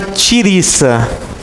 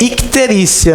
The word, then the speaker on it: icterícia: Mas não é tiriça, viu, gente? É icterícia.